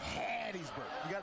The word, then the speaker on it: Hattiesburg: It's Hattiesburg. You got to put a little phlegm in that when you say Hattiesburg.